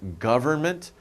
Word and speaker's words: government: interesting when you pronounce government government government you're not really pronouncing n it's government government but